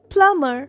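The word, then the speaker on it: plumber: এল ইউ এমবি আর প্লামার এখানেও beta silent প্লামার মানে জানো কল মিস্ত্রি person who fixes water pipes আমরা বলি না Kalya প্লামার to repair pipe pipe মিস্ত্রিকে ডাকো প্লামাবি সাইলেন্ট।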